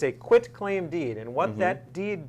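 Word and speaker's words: quitclaim: the other types of uh deeds most often mispronounced term in the law as far as i know is called a quit claim deed often referred to as a quick claim d that's what i thought it was which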